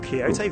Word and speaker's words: Quixote: Well, because Ooh, Kyoto Valley. is that how you're pronouncing it? Is that what we're going with? Why is there it's presumably like Don Quixote, isn't it?